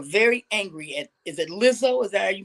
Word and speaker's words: Lizzo: people who are very angry at is it lizzo is that you pronounce the name yeah lizzo they're angry at lizzo okay i personally know